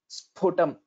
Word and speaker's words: स्फुटम्: So sphutam, that mahaprana means we'll have to give more energy while pronouncing it.